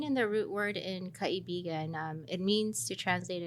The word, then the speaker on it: Kaibigan: But I'm going to attempt the pronunciation, Kaibigan ng Correct.